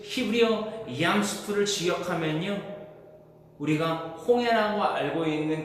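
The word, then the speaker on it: ים סוף: 우리가 먹는 수프 그 발음이랑 똑같습니다. 얌 수프.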